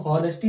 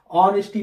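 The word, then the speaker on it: honesty: अब इसको हम हॉनेस्टी नहीं पढ़ेंगे, हाँ साउंड नहीं आ रहा है, ऑनेस्टी पढ़ेंगे। क्या पढ़ेंगे?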